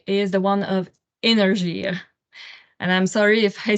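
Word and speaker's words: Énergir: the the one of energy and I'm sorry if I say it wrong with a big accent in French we say energ so you're probably familiar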